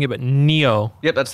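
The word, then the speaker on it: Nioh: i'm going to be terrible because i'm better pronouncing it but neo yep that's how you pronounce it yeah oh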